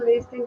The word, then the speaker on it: listen: Aqui não é que fica fraquinho o T, ele não é pronunciado. É um T mudo, então fica don't listen, listen, tá?